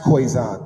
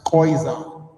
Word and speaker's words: Khoisan: Uh the Khoisan, Nilo-Saharan, Afroasiatic, Niger-Congo are the major language families in Africa. You actually probably heard of this one. It isn't pronounced Khoisan. It's pronounced Khoisan.